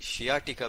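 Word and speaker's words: sciatica: आज हम पढ़ेंगे सियाटिका के बारे में, ठीक है जी। और कुछ लोग इसे शियाटिका भी प्रोनाउंसिएट करते हैं।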